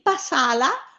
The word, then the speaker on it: passala: Quindi passala vuole l'accento sulla A, la seconda A.